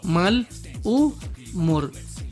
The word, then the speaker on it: malhumor: Ya conoces que la letra H no tiene sonido. Cuando ella aparece entre vocal y consonante, forma sílaba con la vocal que le sigue y no con la consonante anterior. Por ejemplo, vemos la palabra malhumor, se divide así: mal-u-mor. ¿Te percatas? La H se ha ido con la U.